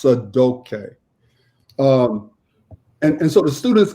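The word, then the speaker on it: Sadaukai: name so it's sa da UK but it's pronounced sad okay and and so the students gave me that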